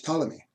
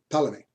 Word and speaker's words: Ptolemy: One is Ptolemy, spelled with a P, Ptolemy, which is, excuse me, you saw it here.